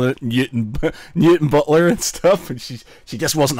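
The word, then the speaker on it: Newtownbutler: its new time Butler I said yeah it's mutant Butler and she's like no it's spelt new time Butler and I said yeah but it's called mutant Butler as a hobby and nards as and we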